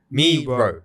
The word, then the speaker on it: Miro: Miro. Yeah. Okay. So the tool is called Miro, not Miro. We're calling it Miro. It's called Miro, and we use this for everything.